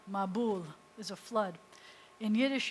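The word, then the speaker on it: מבול: You'll find that in Yiddish, in Ashkenazic pronunciation, the accent often shifts to the front of the word, to the beginning syllable. And I told you already, in modern pronunciation, most often the accent's at the end of the word. So in modern Hebrew, you would say mabul. But in Ashkenazi, you say a mabul. It was a mabul.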